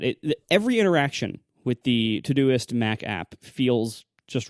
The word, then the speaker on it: Todoist: the problems is that Siri doesn't really recognize the the pronunciation todoist you have to pronounce it wrong like tooy or other like and like